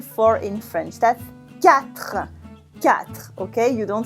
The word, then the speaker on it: quatre: That's quatre, quatre, okay? You don't say the U and you don't say the E, that's quatre.